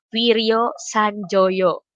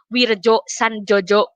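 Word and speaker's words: Wirjosandjojo: Wiryo Sanjoyo. Anak-anak sekarang parola bacanya suka gini, Wirjo Sanjojo. Hah, ini kan pakai ejaan lama, jadi banyak Wiryo Sanjoyo.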